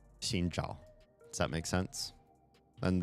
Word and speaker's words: Zhao: It's Zhao. J. It's like a J, but in the back of your mouth.